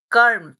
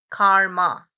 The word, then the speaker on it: karma: Western world, the word karm. It is karm. It's a Sanskrit word. It is not karma.